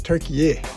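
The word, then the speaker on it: Türkiye: So they're trying to, add this little accent, this little extra syllable to rebrand the entire country.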